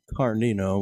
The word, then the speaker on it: Carnino: That comes from her maiden name, Carnino, with a silent G.